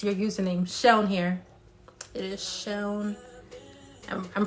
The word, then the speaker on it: Seun: S-E-U-N. Seun. It's not Seun. It's not Sun.